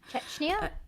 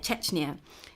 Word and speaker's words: Chechnya: i made sure to know how to like pronounce the the the plays czechner i think it's czech yeah chechnya yeah chechnya so that's basically where um you know i